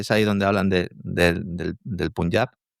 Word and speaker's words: Punjab: No, es Punjab. Bien. Sí, aunque si dice Punjab en español está bien, es correcto. Yo, más que nada, por las referencias a Kim, ¿no? Que es ahí donde hablan del Punjab.